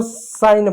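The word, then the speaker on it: sign: जी साइलेंट होता है। जैसे एग्जांपल तौर पे आप देखिए जैसे इसको साइन पढ़ेंगे।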